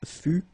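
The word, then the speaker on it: fus: one more time okay keep in mind that final s is not pronounced exactly the same thing final s not pronounced final not pronounced okay so basically you've got only one phonetical form here and it's fu fu fu the same okay then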